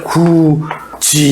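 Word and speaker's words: 굳이: 디귿하고 이가 만났네요. 이는 이응이 없어도 이죠. 이응이 있어도 이잖아요. 초성에오는 이응은 음가가 없기 때문에 자음으로 안 친다. 포음으로 비워놓기 이상하니까 포음으로 그냥 넣었을 뿐이지 이거 이나 똑같잖아. 그죠? 발음이. 그죠? 그래서 초성에 오는 것은 음가가 없다. 그래서 디귿하고 이가 만나서 우리는 디귿하고 이가 만나면 지읒으로 발음한다. 디귿하고 이를 지읒으로 발음하니까 구지 이렇게 발음하자.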